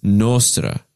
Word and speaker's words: nostra: Nostra is nostra. Nostra. So it emphasizes and gives you the most notes on the syllable which is to be stressed.